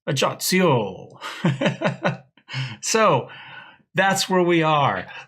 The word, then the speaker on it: Ajaccio: It sounds more Italian to me, but I've Googled it, I've looked, I've done the pronunciation guides. It's Ajaccio.